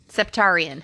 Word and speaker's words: Septarian: Am I saying it right now? Not serpentine. Septarian. There we go.